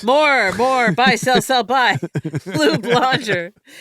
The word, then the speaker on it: Blonger: Blue Blonger. Rhymes with conjure.